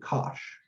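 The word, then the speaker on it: cosh: will talk about them cinch and kosh usually is how they're pronounced but we'll get there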